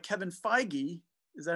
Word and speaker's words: Feige: you see the attitude of someone like kevin feige is that how you say his name i